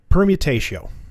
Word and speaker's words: permutatio: do in fact have permutatio. That's how I'm going to pronounce it. So, like permutation, but without an N.